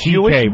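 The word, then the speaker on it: Székely: It's pronounced CK, but it's spelled much longer.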